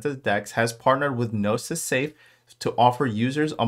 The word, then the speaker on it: Gnosis: more time gnosis so I didn't know if it was genosis I don't know if it was genosis so the g is silent so it is gnosis so the key takeaway